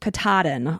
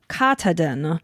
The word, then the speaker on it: Katahdin: It goes from Springer Mountain in Georgia to Mount Katahdin. Oh, I would have totally destroyed that word had I not looked up the pronunciation. I would have said Katahdin and then anyone up in the Maine area